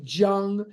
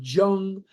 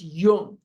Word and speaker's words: Jung: Jung in meetings or Jung. It's Jung. The J sound does not exist in some languages, and the J is pronounced like a Y.